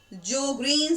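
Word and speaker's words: Sjögren: Okay, और example की अगर हम बात करें तो जोग्रीन सिंड्रोम, एक सुजोग्रीन एस साइलेंट है, तो जोग्रीन सिंड्रोम जो है उसमें ये पिलोकार्पिन यूज किया जाता है।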